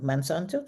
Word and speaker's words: Monsanto: other side the slide you just showed monsanto mansanto is that is that how it's pronounced yes Okay, they are the manufacturers of Lysol here.